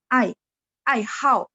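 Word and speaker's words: 爱好: Tapi kalau dia gabung dengan huruf ai hao itu artinya hobi dan harus baca nada 4. Ai hao. Jadi hao ini dia ada 2 baca. Baca nada 3 artinya baik, baca nada 4 jadi hobi ai hao.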